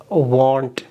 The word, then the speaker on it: want: अच्छा, इसकी pronunciation है want. इसको कुछ लोग इस will not की जो short form है उसके साथ merge कर देते हैं. वो इसको भी कहते हैं I won't. वो इसको want की pronunciation पढ़ देते हैं I won't do it. ये गलत है.